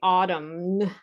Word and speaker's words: autumn: and many students say autumn and the n is silent you can take a